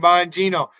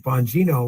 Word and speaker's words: Bongino: So I was quite horrified from, you know, the name like Bongino, where people say Bongino, and you know, they're Bongino. They're not wrong, like bong, right? The bong thing, B-O-N-G, but it was from Buongiorno, so they pronounce it that way.